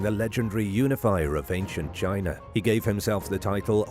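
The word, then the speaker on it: Qin: legendary unifier of ancient China he gave himself the title hang D which means Sovereign Sage emperor in English his very name is where the country gets its name from chin pronounced like chin is the base of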